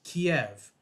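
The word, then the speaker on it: Kyiv: Russia's invasion of Ukraine their capital city was always pronounced Kiev whether it be in books whether it be on television during the news all that and then overnight all these snobby-ass news anchors including Anderson Cooper probably most guilty all of a sudden start pronouncing it Kiev now I understand that Kiev is how you pronounce it in Ukrainian and it would be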